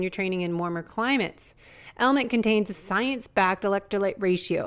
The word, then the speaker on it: LMNT: of our sponsors lmnt element it's spelled lmnt but pronounced element if you haven't heard